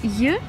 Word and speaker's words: й: or just й, if you want to learn how to pronounce this letter in english you can just pronounce the word join and this is i letter is й in russian.